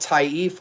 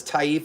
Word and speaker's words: Taif: This is one of the most elite niche brands out there and it's called Taif Aud because Taif is the name of the rose.